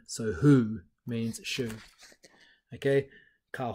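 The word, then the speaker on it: hū: Maori word here being who rhymes with shoe ok so the translation of shoe into Maori is who and again it's got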